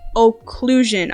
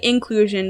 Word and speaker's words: occlusion: wrong but it's ambient occlusion I used to say inclusion there's no in anywhere in occlusion so I don't know